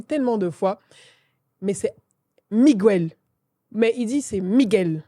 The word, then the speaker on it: Miguel: Mais c'est Miguel. Mais il dit c'est Miguel. Normalement, les Espagnols prononcent Miguel.